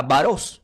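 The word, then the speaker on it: βάρος: La primera palabra que es carga se pronuncia como diga varos.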